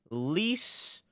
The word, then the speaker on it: Lise: who is 16 named Lise Clarkson it's spelled I Aerith spell L is like Lisa but without an a so it's like Lisa and she was murdered